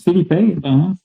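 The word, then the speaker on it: Phillippe: Ouais, ça se prononce Philippe Ben, il aussi joué dans Ouais.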